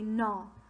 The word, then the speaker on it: gnaw: around they love to gnaw on everything that g is silent say no no means to chew rick